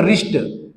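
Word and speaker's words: wrist: letter silent ठेवायचा आहे त्याच्यानंतर आहे रिस्ट रिस्ट हा शब्द वाचन करत असताना यातील डब्ल हे लेटर आपल्याला सायलेंट ठेवायचा आहे कारण डब्ल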